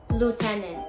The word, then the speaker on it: lieutenant: Lieutenant, no es lieutenant. La cosa es que como se escribe es complicado, pero como se pronuncia no es tan difícil.